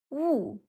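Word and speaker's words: 雾: This character is wu. wu Fourth tone.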